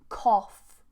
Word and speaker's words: cough: we have off off so let's compare those sounds off oh this was more rounded off for example cough cough I've got a